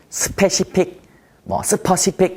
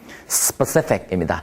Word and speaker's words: specific: 발음하면서 시험 영어대 히나요 스페시픽 스 픽 이렇게 하셨나요 specific입니다 일단은 강세는 두 번째 음제 있습니다의 강세가 있습니다 그리고 바른 포인트 두